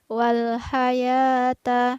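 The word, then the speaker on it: وَالْحَيَاةَ: adalah al-maut aja hai wal hayata di sini ada huruf h tipis dan tetap biasa ya bukan huruf pop wal hayata hai kemudian pada lafaz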